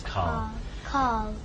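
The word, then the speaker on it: Karl: No, Carl. His name is Carl.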